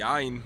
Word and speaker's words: ع: Imagine you are suffocating, and if you are suffocating you will say ah. So this sound corresponds to the Ain. So it's difficult to pronounce in real life, but if you are feeling suffocated, you will pronounce the Ain.